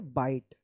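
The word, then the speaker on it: bite: आई का आई उच्चारण होगा। ठीक है ना? तो क्या पढ़ेंगे? बाइट बी आई टी ई बाइट इसको बिट मत पढ़िएगा या बाइटे मत पढ़िएगा ठीक है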